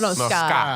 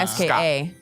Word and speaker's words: ska: Paul got some Sky music on deck. Oh yeah. Am I saying it right? Sky, like the Yeah, Sky? No, Ska. S-K-A. Huh? Ska. Ska music.